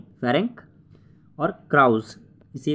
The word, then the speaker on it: Ferenc: दूसरा है फेरेंस क्राउस, फेरेंस की स्पेलिंग है FERENC, फेरेंक, और क्राउस इसी के